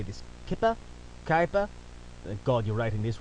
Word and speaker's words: Kuiper: it how i want i'm saying it like kaipa like diaper like a diaper belt something i assume you